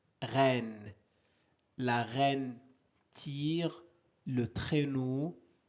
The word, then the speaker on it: reine: Ren, regardez ici, nous avons E suivi de deux consonnes. Donc on prononce et reine.